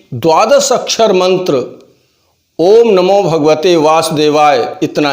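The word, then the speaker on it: ॐ नमो भगवते वासुदेवाय: पहले आप उसे सन लीजिए लोग इसका गलत उच्चारण किया करते हैं ओम नमो भगवते वासुदेवाय ओम नमो भगवते वासुदेवाय ओम नमो भगवते वासुदेवाय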